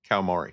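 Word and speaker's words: Kawamori: um the original creator whose name I can't pronounce because I'm always bad with the names. So, uh Kamari Kamari, thank you.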